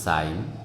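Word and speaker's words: sign: যেমন আমরা উচ্চারণ করি সাইন ক্যাম্পেইন রেন ইত্যাদি এই জিনিসটা গুরুত্বপূর্ণ আমরা জানি না কখন জের উচ্চারণ হয় না আমি আবার বলছি শব্দের মাঝে জি আই এন অথবা জি এন যদি একত্রে আসে ঠিক আছে তাহলে এদই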